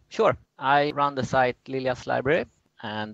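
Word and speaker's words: Lilja: say your last name yeah sweden we say lilia but i understand that's quite hard to pronounce in english okay so it's lilia's library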